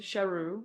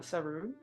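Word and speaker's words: Sheru: this is my name even though it was shahu not suu and that's why the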